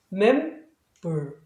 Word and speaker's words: member: 그래서 전체적인 발음은 member, member, member, member 이렇게 되겠죠.